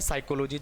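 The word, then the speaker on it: psychology: जैसे आपने देखा होगा साइकोलॉजी, अब साइकोलॉजी में क्या होता है, P और S लिखा जाता है। शुरुआती दौर की मैं बात कर रहा हूँ, शुरू में जब स्पेलिंग हम लिखते हैं तो PS लिखा जा रहा है, जबकि पढ़ा क्या जा रहा है साइकोलॉजी, जबकि साइकोलॉजी ही पढ़ना है तो S से शुरू हो रहा है, P को हम क्यों लिख रहे हैं।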